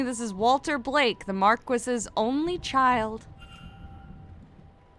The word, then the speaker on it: marquis: I've heard it pronounced Marquis. I know it looks like it should be Marcus, but I' I've definitely heard English people say it Marquis.